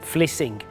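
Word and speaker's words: Vlissingen: to a place called flushing again pronounced uh in the Dutch of fling this will be done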